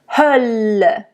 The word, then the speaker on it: Hölle: Hölle, Hölle, There is a closed and there is an open This one is an open one because it is followed by 2 voiced consonants. Hölle.